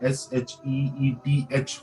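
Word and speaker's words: شيث: तो अगर उस तरीके से हम प्रोनाउंस करें तो वो SHEETH होना चाहिए, क्योंकि से को हम इन कुरानिक लैंग्वेज को हम शीस जबान को दोनों दांतों के दरमियान में रख के हम बोलते हैं.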